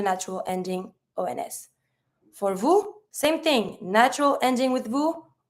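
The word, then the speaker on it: vous: don't pronounce the S you V don't pronounce the S they depending of the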